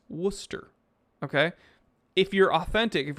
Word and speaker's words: Worcester: if anybody pronounces it warcaster or warchester you know they're not from there it's worcester okay if you're authentic if you're natively there it's worcester because you they don't pronounce the rs very well okay another reason i